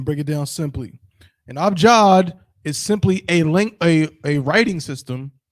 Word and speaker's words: abjad: A, B, J, A, D. It's pronounced abjad.